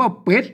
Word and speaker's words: เป็ด: ชัด กว่า นะ ครับ เห็น มั้ย สะกด ด้วย ตัว ได้ นั่น น่ะ นะ ครับ ก็ อ่าน ว่า เป็ด นะ ครับ เห็น มั้ย เป็ด